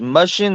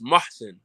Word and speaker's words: Muhsin: It's Mushin, not Mushin. No, it's Muhsin. It's Muhsin. Like Mussin. Muhsin, like Mason, but Muhsin.